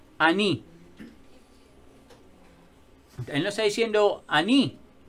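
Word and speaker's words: אני: Pero cuando vemos yo soy, es, ¿cómo se dice yo soy en hebreo? Ani.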